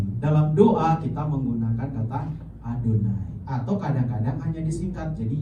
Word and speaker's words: YHWH: Jadi ketika kita ketemu kata YHWH, jangan lagi baca YHWH, bacalah Adonai, ya, supaya kita lebih terbiasa.